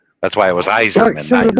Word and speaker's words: Yzerman: would think it was Yzerman. Thank you, Benji. It was spelled with a Y, but it's pronounced with an I. That's why it was Iserman, not Yzerman.